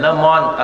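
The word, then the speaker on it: Le Monde: number वनच वृत्तपत्र आहे लमन असं त्याच नाव आहे लमन स्पेलिंग होताना एम एन डी होतात उच्चार फ्रेंच उच्चार फ्रेंच भाषा सौम्य गोल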